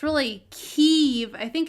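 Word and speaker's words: Kyiv: But all the reporters are saying Kiev. And I don't know if it's really Kiev. I think it's Kiev. Like, you're supposed to say the part, but not put the emphasis on the second syllable.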